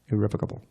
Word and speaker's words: irrevocable: Notice the pronunciation irrevocable.